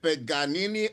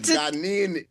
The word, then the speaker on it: Paganini: we are excited to be bringing down the paganini of the steel pan, Professor Liam.